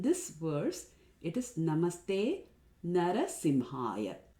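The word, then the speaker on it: नृसिंहाय: A very common mispronunciation is Narashringaya. Now Shringa basically means horns. So by saying Namaste Narashringaya, we are saying I bow down to the person who has horns on his head.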